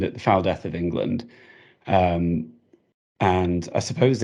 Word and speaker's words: Engelond: First of all, let's get clear on the title, because it looks like the Foul Deth of Engelond.